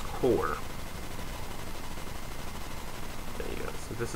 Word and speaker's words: QOR: So it's pronounced core.